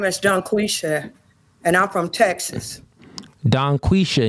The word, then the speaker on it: Dungquesha: I just saying I ain't pronounced the G at the end.